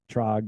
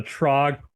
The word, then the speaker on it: Trog: it's not that hard just see long o sound in the middle the trog War Ro I got